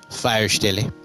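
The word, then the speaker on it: Feuerstelle: And yes, I know how to pronounce it now. I had Google help me. It's German for fireplace, Firestelle.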